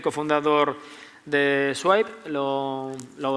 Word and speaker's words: Swipe: Javier Fuentes, CEO y cofundador de Swipe. ¿Lo pronunciáis así?